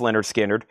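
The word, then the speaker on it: Lynyrd Skynyrd: and Leonard Skinner. Pronounced Leonard Skinnard.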